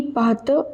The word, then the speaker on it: partent: Quas, ceux qui partent en avance. Both of these are verbs, so ent at the end of them is silent.